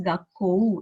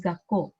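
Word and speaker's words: 学校: Now O is prolonged, but I'm writing U.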